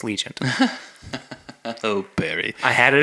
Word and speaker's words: Legion: I do realize that I was saying it wrong on the episode where we reviewed it it's not Legend it is Legion oh Barry I had